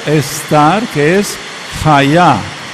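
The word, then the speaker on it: היה: A ver o tener en pasado y en futuro es el verbo ser o estar, que es haya. Hayá. Y así se escribeá.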